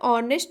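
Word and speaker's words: honest: उसी प्रकार ऑनेस्ट मैन एच से स्टार्ट हो रहा है, कॉन्सोनेंट लेटर है, लेकिन इसका उच्चारण जो है वो वॉवेल साउंड है, यानी कि स्वर वर्ण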